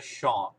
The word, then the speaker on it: Sean: Se escreve assim, mas a pronúncia é Sean, que é o nome dele.